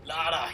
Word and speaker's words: Lara: Lara. Yes, and it's not Laura. It's Lara.